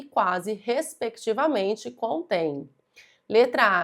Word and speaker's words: quase: Se eu pronuncio quase, perceba que eu pronuncio todas as letras. Quase. Todas as letras.